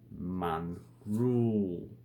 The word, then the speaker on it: mongrel: So mongrel. So the E, depending on the pronunciation, could be U or double O.